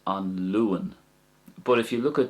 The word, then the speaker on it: An Luan: So as regards pronunciation there, the first way I said it was An Luan. So the A sound is getting prominence. An Luan.